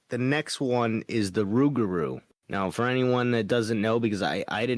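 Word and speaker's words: rougarou: The Rugaroo is supposedly a So, it's basically like a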